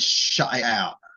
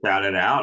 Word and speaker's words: Shut It Out: is that one and Shut It Out. You would love both of those. Shout it out. I already love it. Shut, not shout. Shut it out.